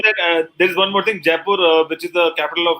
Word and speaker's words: Jaipur: Is that how you pronounce it? Jaipur.